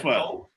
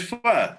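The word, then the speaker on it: phở: Vietnamese is a soup called pho, PHO. Vietnamese soup. Oh yes, I have. I had pho. You said pho? Yeah, well, it's pho. It's pronounced pho, even though it's spelled PHO.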